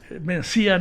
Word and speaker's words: Mencía: Doña Mencia no suena. En español las palabras llanas son más comunes, nos cuestan las palabras agudas, ¿verdad? Entonces Mencía nos cuesta pronunciar. Mencía es aguda. Mencia nos resulta más fácil. Entonces Mencía. Suena, no.